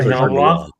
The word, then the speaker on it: Auberjonois: Cast includes Faye Dunaway, Tommy Lee Jones, Brad Dourif, Renee Auberjonois. I can't ever pronounce his last name. Auberjonois.